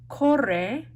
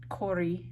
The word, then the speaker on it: corre: So, corre, that's E, not corri, right?